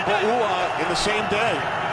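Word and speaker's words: Pouha: Wearing a tie and pronouncing Bouha in the same day. That's a little misleading because it starts with a P, but it more sounds like a B.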